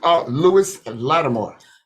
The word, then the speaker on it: Lewis Latimer: And could you pronounce his name again? Lewis Latimer. Lewis Latimer invented the telephone.